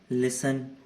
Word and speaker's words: लिसन: लिसन, सुनना जो होता है, इसमें भी टी का कोई साउंड नहीं है, लिस्टन नहीं होता ना।